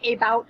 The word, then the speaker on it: about: to talk about science so we actually hear an uh sound at the beginning of about so that can be